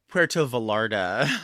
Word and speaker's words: Puerto Vallarta: I think it's actually pronounced Puerto Vallarta actually. You're you're Well, there's two L's.